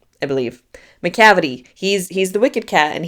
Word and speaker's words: Macavity: It rhymes with gravity. Macavity, I believe. Macavity.